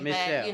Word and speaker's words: MissChelle: You can pronounce it just the same. MissChelle.